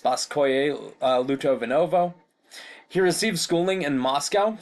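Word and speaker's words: Спасское-Лутовиново: They owned a large country estate called, I believe that's pronounced Spasskoye Lutovinovo.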